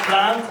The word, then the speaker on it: Plante: And then our guest of honor, Plante, I say it correctly, right? Plante, perfect.